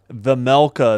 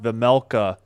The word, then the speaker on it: Vejmelka: Vejmelka is how they're saying it. So the J is silent. Vejmelka.